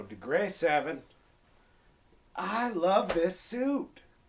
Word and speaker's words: Degre 7: deg 7 degre S I do believe that's how they pronounce it they like it like it says degree but they're missing one e so degre 7 I love this suit